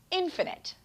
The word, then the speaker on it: infinite: time by the way the opposite of finite is infinite notice that change in how we pronounce it infinite something is infinite if